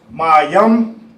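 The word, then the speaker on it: מים: What everybody needs H2O water in English is pronounced mayam in Hebrew.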